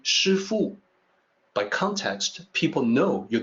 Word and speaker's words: Shifu: the resident of master there and you say shufoo by context people know you're not talking about